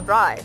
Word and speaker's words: braai: That's why we have the braai.